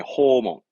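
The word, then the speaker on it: 訪問: 발음은 네, 호몬.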